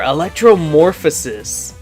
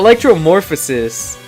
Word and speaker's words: Electromorphosis: So the two abilities are Electromorphosis. Am I pronouncing that correctly?